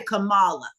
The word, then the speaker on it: Kamala: to pronounce her name, I say Kamala. Yeah, Kamala, because that's really what it is. Kamala. That's just like if it had a J there and it would be close to what my name is, my legal name, Jamala.